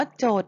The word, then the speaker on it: โจทย์: ต่อ มา ค่ะ ลูก คำ นี้ เรา จะ ออก เสียง ว่า โจทย์ เหมือน กัน หมด เลย นะ คะ โจทก์ ที่ 1